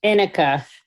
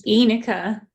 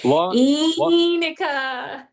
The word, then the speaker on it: Enica: Inika. It's Enica. Inika with an E. All together Everybody now. together with me. Together, let's all do this together. Enica.